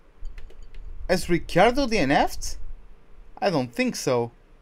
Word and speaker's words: Ricciardo: talking about him, and he was calling him Ricciardo, so I suppose that's how his name is supposed to be pronounced then. And yeah, that's how I call him now then. It's Ricciardo.